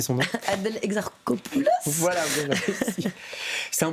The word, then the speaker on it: Adèle Exarchopoulos: Je vous laisse prononcer son nom. Adèle Exarchopoulos.